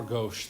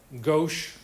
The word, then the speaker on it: gauche: okay that new term g-a-u-c-h-e gauche gauch however you want to pronounce it's pretty sure it's gauche has anybody heard anybody